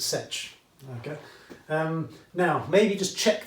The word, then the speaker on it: sech: Yeah, everyone says coth, everyone I think says cosech or cosech, okay, and everyone says sech, okay.